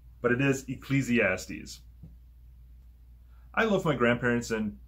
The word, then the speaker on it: Ecclesiastes: before sometimes it's a little bit hard to pronounce but it is ecclesiastes i love my grandparents and parents very much